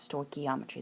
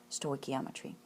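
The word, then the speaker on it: stoichiometry: this course will offer for you and that's sto geometry that's how that's pronounced sto geometry and we're going to learn dimensional analysis you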